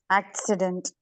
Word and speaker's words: accident: so a double C Whenever there is a double C in any word the first C becomes Cur and the second C becomes sir for example how do you